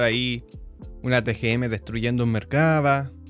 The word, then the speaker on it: Merkavá: entonces Empezamos el mercaba porque se pronuncia mercaba Data el inicio de